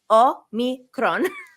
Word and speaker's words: omicron: the omicron i'm greek i'm going to teach y'all how to say it o me roll the r a little bit just it's become a